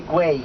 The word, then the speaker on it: Güell: And we are on our way to Park Güell. Güell. I know it's difficult to say, but the same way you say day, you can say Güell. Because the double L is always a Y sound, and it's unusual for